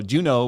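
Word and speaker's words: Juneau: she forgot Juno and she spelled Juno j-u-n-o which is like you would think that's how it's spelled but it's j-u-n-e-a-u oh right I was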